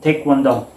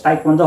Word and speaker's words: Taekwondo: So there is the presence of do, because Taekwondo has 3 syllables. The te, kwon, and do.